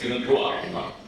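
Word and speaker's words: UNIDROIT: Unidruva, I think we mentioned about it's Unidruva, because it's a French term, pronounced as Druva.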